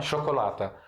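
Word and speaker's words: شوكولاتة: A gente fala chocolata. Porque tá marbuta, né? Tá marbuta, que pronuncia como A com essa palavra, tá bom?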